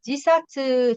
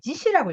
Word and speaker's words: 自死: 兄弟との再会の約束を果たすために自殺して幽 아, 霊となっ 이거는 지사츠 뜻은 맞는데, 지시라고 읽어야 돼.